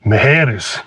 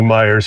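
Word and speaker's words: Meijer: She's going to Mejeres. Mejeres. It's actually Myers, but when you're from Southern California, it's Mejeres.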